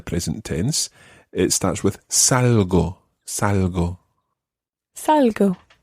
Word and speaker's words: salgo: It starts with salgo, salgo. Salgo. Yeah, it's one of those soft G sounds, so it's quite a salgo.